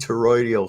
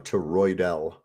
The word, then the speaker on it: toroidal: says in a gold terroidal field okay word word I pronounced that wrong to roydel field you're absolutely correct tranquil vote tax isn't